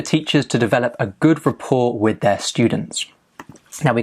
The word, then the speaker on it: rapport: Now, the pronunciation is without the T, rapport. Stress on the second syllable, rapport. It's important for teachers to develop a good rapport with their students.